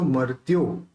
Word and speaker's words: मर्त्यो: मोहदया मोहक्षयादनुभवन्नपि नाथ मर्त्यो, रेफ को इसके साथ लेंगे तो मर्त्यो हो जाएगा।